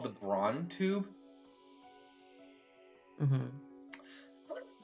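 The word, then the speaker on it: Braun: these over a minute long here we go brown brown okay I've seen brown and Brun then whichever one you like all right anyway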